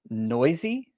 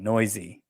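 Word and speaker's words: Neuse: oh man i'm glad i looked up the pronunciation before i said it sheldon noisy yep that is how you say his name i remember hearing it and i was like what n-e-u-s-e noisy uh yeah he got a start for the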